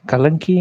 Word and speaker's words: कल्कि: जब बाकी चैनल वाले कलंकी कलंकी बोल रहे थे, ओरिया चैनल वाले, मुझे समझ में नहीं आ रहा था ये क्या कलंकी क्या बोल रहा है। मैं सोचा कल्कि का प्रोनाउंसिएशन गलत हो रहा है क्या।